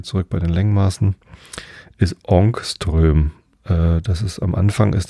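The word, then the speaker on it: Ångström: schwedischen Physiker andersch Jonas onströ ich glaube das a mit dem Kringel oben drauf wird o ausgesprochenström so ähm ein ohungströmen sind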